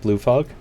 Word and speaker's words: Camp Blue Fog: a visit at Camp Blue Fog for the longest time I kept pronouncing that as Blue Frog and I still do sometimes pleasure to meet you